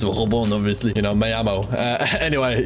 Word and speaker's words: Robin: I mean, Robon, I guess if you know the real French pronunciation is Robon, obviously, you know, Mayamo.